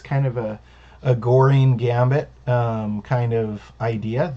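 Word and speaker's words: Göring: kind of a a goring gambit kind of idea the gurine gambit i guess is the proper pronunciation for gurin's name it has the g o with the um lap above it um black plays knight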